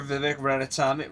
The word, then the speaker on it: Vivek Ramaswamy: Yo, listen, if you don't vote for Vivek Ramaswamy, I think is how you say his name is, you're stupid.